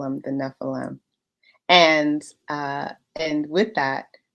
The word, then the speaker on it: Nephilim: wrong like every time i always want to say nephilim and that's not it y'all that that's wrong it's nephilim so yeah y'all get